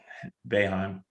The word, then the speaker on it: Boeheim: Boeheim.